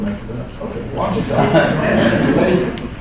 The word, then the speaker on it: Ouachita: Ouachita. Okay, I knew I was going to mess it up. Okay, Ouachita. Later, it's spelled Q-U-A.